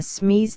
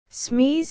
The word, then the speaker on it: Smith: Smees is very much as an Italian would pronounce Smith, as, you know, the French call it Smeet.